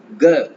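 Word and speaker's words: 个: ஸோ ஜிஇ வரும்போது நாம க அப்படின்னு ப்ரொனவுன்ஸ் பண்ணுவோம். க கங்கா க க. அந்த ஜிஇ வரும்போது க சவுண்ட். இந்த க ப்ரொனவுன்ஸ் பண்ணும்போது காத்து அவ்வளவா வராது.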